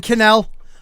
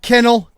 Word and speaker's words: Cannell: Right, Ryan Cannell. No. Kennel.